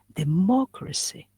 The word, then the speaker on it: democracy: means I can say you can stress the second syllable. It's the second syllable, but also anti-penultimate. That is, it's the third from the end. One, two, so three in here. So we stress here democracy, okay?